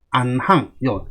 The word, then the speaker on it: 行: 비지어수 동원이류 형제이이 행즉 안항. 같은 행이지만 요거는 행이라고 읽어야 되고요. 자, 요거는 항이라고 읽어야 됩니다. 요거는 좀 이따 제가 설명드릴게요.